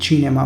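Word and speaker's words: cinema: अब ये छोटा सा ही फ़र्क है, जिस तरह इंग्लिश में हम सिनेमा कहते हैं और इटालियन में जब हम इसको प्रोनाउंस करेंगे तो ये चिनेमा बनेगा।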